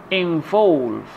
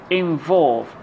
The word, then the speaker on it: involve: For example, begin, begin, believe, believe, involve, involve. As you see, the red part of the word is the second syllable, so we have the